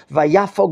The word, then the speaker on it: vayafog: The second kamatz is equivalent to an O. Vayafog libo. Gentlemen, it seems like he's going into cardiac arrest. Vayafog is the proper pronunciation, sir. When we see a biblical verb, and he did this with 2 kamats, one after the other, the second kamat, the O, is an O.